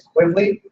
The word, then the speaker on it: Quigley: It's Quigley. So if you think of like the Tom Selleck movie where he was in Australia, Quigley Down Under.